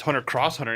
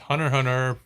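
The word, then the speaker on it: Hunter × Hunter: Or if you really want to get technical, it's Hunter Cross Hunter and Family Cross Fame.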